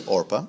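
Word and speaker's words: Orpah: took moabit wives the name of one was orpa and yes that is where we got the Mison mispronounced name of Oprah okay that's where she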